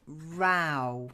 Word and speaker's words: row: it's not softly spicy okay the next one Rao in this context a row is when things